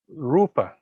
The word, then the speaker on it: rūpa: a very important party short and long short one crown long two counts rupa so if you don't pronounce it properly in this way it can mean different things okay so the carrot